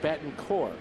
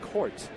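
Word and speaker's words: Betancourt: uneski Bon core not court now you forget about the te we understand that and he is from Cuba but it is very uh distasteful to to his family to pronounce the T so we apologize for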